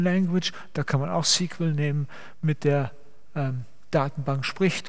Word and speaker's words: SQL: Das wird dann in unserem Fall das SQL sein, SQL eigentlich ausgesprochen. SQL sagt man nicht. Man sagt eigentlich SQL.